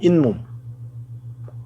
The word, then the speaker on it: 잇몸: 이몸, 잇몸. 얘는 이 플러스 몸, 고유어 플러스 고유어. 이는 모음 이로 끝난다. 뒷말 몸의 첫 소리, 미음 앞에 니은 소리가 덧붙어 잇몸으로 발음된다.